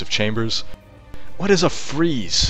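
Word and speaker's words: frieze: Chambers what is a freeze how do you how do you pronounce that f r i e z e or Z for our American friends FR it's pronounced freeze it is any decorative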